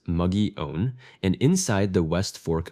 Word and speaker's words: Mogollon: Much of it burned high on the Mogollon Rim, pronounced muggy-own, and inside the west fork of Oak Creek.